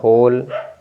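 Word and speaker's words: whole: डब्लू के बाद एओ है तो आपका डब्लू साइलेंट हो जाएगा तो होल डब्लू देखिए डब्लू के बाद एओ है तो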